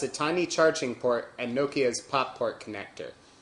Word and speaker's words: Nokia: Here's the Nokia N80. We tried getting away with pronouncing it Nokia like most Americans do last time, and you